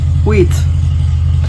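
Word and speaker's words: Wiecht: drafted in 1969 but their last pronunciation is we i c HT and I think they're saying to pronounce it like with te with with like teeth she said a with teeth wheat Rick and Jo even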